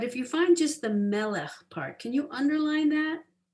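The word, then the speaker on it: מלך: And it starts out me melech, right? But if you find just the melech part, can you underline that? So they spell it M-E-L-E-K-H, melech.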